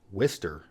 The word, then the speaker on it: Worcester: hour or so west of Boston and it's pronounced Worcester Take These Broken Wings to Worcester Worcester Massachusetts I've seen this city on maps